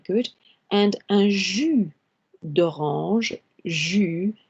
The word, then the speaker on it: jus: And un jus d'orange, jus, the S here is silent, as well as céréales.